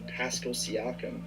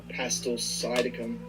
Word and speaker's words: Pascal Siakam: And this was seen in a recent video in which you can see Flight smirking when pronouncing Pascal Siakam as Pastel Siakam.